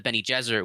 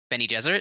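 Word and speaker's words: Bene Gesserit: yes thank you uh ben e like benny like the name jesuit so it's like jesuit okay got it okay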